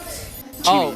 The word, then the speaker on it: Chibi: Chibi. Oh, it's Chibi. Just like BB. You know, it rhymes with BB and Chibi.